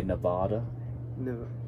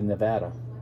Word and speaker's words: Nevada: you go to nevada most outsiders try to make it fancy and they call it they say nevada but it's really nevada that's how i pronounced that i know you